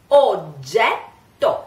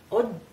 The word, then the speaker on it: oggetto: Bramato, oggetto. Here you have two doubles. Double G and double T. So, anytime you have a double G, oggetto, this is quite, you know, because you have to wait.